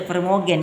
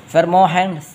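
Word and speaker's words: vermogen: Jadi jangan jangan dibaca permogen ya. Agak sedikit anu lidahnya sedikitlah ya. Jangan bilang fermogen Pak ya. Nanti dikira lagi nama obat lagi fermohen reh ya. Jadi dalam dalam pengucapan belanda itu kalau lagi itu dibaca heohen rah ya. Fermohen rah ya.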